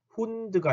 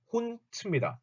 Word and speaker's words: Hund: 참고로 독일어 끝에 나오는 d는 단어 끝에 있는 d는 발음이 t로 되죠. t. 그래서 요거 아실 거예요. 독일을 뭐라고 쓰죠? 도이칠란트라고 그러죠. 자, 도이칠란드라고 쓰는 경우 있어요. 아닙니다. 요거 뒤에 맨 끝에 나오는 D는 T 발음이 되기 때문에 도이칠란트가 맞아요. 도이칠란트. 그래서 여기도 훈드가 아니고 훈트입니다. 단어 끝에 오는 D는 소리가 T로 나더라.